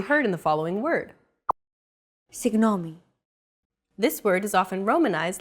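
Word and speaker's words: συγγνώμη: in the following word signomi this word is often romanized like this signomi this character isn't pronounced using English G sound at all it's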